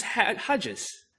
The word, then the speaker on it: Hartjes: and today we have you with us Chris head Hodges did I pronounce that right yes you did absolutely correct